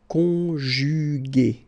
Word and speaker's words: conjugué: Second possibility, here you've got this accent aigu. So remember, this accent aigu is pronounced A. Okay? And so you get the word conjugué.